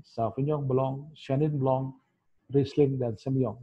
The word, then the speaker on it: Sauvignon Blanc: Sauvignon Blanc. Jadi agak monyong menurut kita ngomong, ya. Sauvignon Blanc.